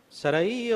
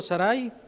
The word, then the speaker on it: Sarai: Sarai o Sarai, la verdad hay diferentes formas de pronunciarlo.